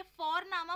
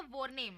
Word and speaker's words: Vorname: और हम यहाँ पे फोरनामा प्रोनाउंस करते हैं बट लिखते हैं उसको VORNAME. ओके, तो वो हम इंग्लिश के अनुसार प्रोनाउंस करेंगे तो वो बनेगा वॉरनेम, बट नो, इट्स फोरनामा.